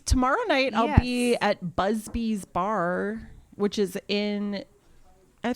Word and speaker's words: Busby: No, I think because it's Busby.